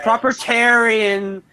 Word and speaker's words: propertarian: Propertarian. You just like fucking stress the you just stress that third syllable. You go like propertarian.